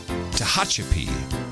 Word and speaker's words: Tehachapi: she now becomes baronet s kit of Tehachapi Tehachapi a handy little spelling pronunciation guide for me their Baroness kit of